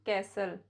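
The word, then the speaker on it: castle: एच का combination होता है तो भी टी साइलेंट होता है जैसे कैसल हसल बसल थिसल विसल नेसली यह कुछ वर्ड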